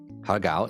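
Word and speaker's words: 蝦餃: Hagao is so good. Yeah, hagao. I forgot that's how you say it in Chinese.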